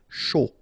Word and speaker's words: chaud: Final D not pronounced, and then when you combine this C and H, you get the sh sound. A and U, O. Chaud.